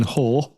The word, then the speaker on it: Hoare: MP Simon, and I hope I say this right, Simon Hoare.